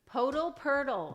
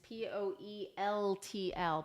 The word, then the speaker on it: Poeltl: Purtle. I don't Jakob know. Purtle. It's always been Purtle to me. I agree. I said Purtle, and somebody made fun of me.